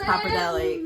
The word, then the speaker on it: pappardelle: It's pappardelle.